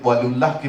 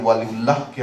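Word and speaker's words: ওয়ালীউল্লাহ: বরং বোঝা যাবে ভেতরের সাড়া থেকে ওয়ালিউল্লাহকে আমরা কিভাবে চিনছি। ওয়ালিউল্লাহ হসন্ত ব্যবহার করতেন। অনেকে তো আমরা উচ্চারণটাও ঠিক করি না। ওয়ালিউল্লাহ ওই বাঙালিদের একটা ওকারান্ত উচ্চারণের প্রবণতা আছে। ফলে আমরা হসন্তটাকে অমিট করে দি।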